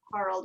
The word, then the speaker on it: Harald: Harald Scheid, it's pronounced Harald, it's German, is the owner of the company.